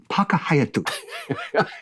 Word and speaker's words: Park Hyatt: this listen no okay that hotel is called the park haat or in Japanese pah haay that's how you say it really no seriously